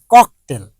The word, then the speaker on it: ককটেল: Hero Alam কি বলল? ককটেলকে ককটেল বলেছে। আচ্ছা, ককটেল উচ্চারণটা কি? ককটেল। উনি কি বললেন? ককটেল। তাহলে ক ক টয়কার ল, উনি কি করেছেন? টকটাকে কত জায়গায় নিয়ে গেছেন আর ককে টর জায়গায় নিয়ে গেছেন।